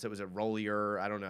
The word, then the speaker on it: Roulier: I don't know how to pronounce it. Was it Rollier? I don't know how to. The center. Chase Roulier.